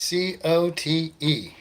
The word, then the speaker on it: Cote: C-O-T-E. Really easy to spell. Really hard to pronounce for some weird reason, huh?